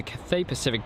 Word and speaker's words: Cathay Pacific: A330 300 with a sorry Cathay Pacific we had a message about me mispronouncing that so uh really big thank you to the person that said had corrected me so that's the cafe pacific Jet and Anthony Neo